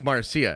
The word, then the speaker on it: Marcia: Lucas exwife name again Marcia it's spelled funny but it's Marcia and I see what